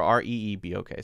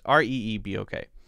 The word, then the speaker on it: Reebok: alright excuse me did i say r-e-b-o-k or r-e-e-b okay r-e-e-b-o-k uh r-e-e-b-o-k fairly popular maybe becoming less popular i don't know that is pronounced let me see if i can pop